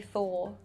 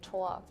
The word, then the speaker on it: Thor: In the UK we say Thor. In Germany we say Toa. In Norway we say Tur.